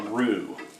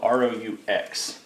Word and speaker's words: roux: and what I'm making is what's called a roux it's spelled r-o-u-x we're making a roux here and this is